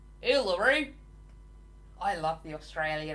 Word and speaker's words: Uluru: She always used to say it like Ularu. Uluru.